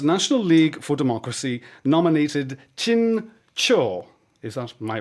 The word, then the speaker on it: Htin Kyaw: Today, Myanmar's National League for Democracy nominated Htin Kyaw. Is that my right? Yeah. That's the pronunciation, more or less.